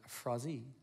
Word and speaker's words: Frazee: didn't know this but my last name Frazee in French they pronounce it frosene because I am a